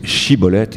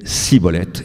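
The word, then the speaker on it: shibboleth: chibolette vous savez que les Éphraïmites ne pouvait pas prononcer chibolette il disait siibolette et c'est comme ça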